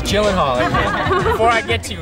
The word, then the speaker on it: Gyllenhaal: Mr Gyllenhaal and yes that is how you pronounce his name you want me to say it for you so you know it jillen Hall Jen jillen Hall everyone it's jillen Hall before I get to you it's jillen Hall